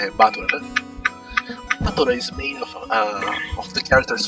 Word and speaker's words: Battler: Battler is made of the characters for fight in person, and it's pronounced battle.